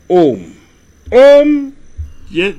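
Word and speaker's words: AUM: la monnaie mais mieux a u m se prononce home c'est le son primordiales qui génère tout l'espace donc si nous utilisons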